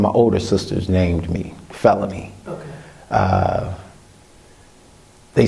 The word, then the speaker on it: Feloney: was considered a felony so they named me felony and it's spelled different f-e-l-o-n-e-y um well it's actually